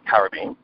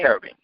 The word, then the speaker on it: Karobean: So there's Caribbean, there's Karobean. So then I said, you know what, I'm going to come with Karobean so that way people can pronounce it the English way, versus the American and standard way of saying Caribbean.